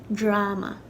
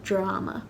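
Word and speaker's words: dráma: Now, it has an A fada, and usually in Irish, in Ulster Irish, that would be pronounced anywhere from a to a, depending on the speaker. And in Connacht and Munster, it'd be pronounced aw. So in Connacht and Munster, this would be pronounced drama. But unlike other words, in Ulster, I've personally never heard this pronounced drama. Maybe some people do, but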